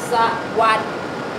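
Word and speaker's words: สวัส: So the correct sound is sawat.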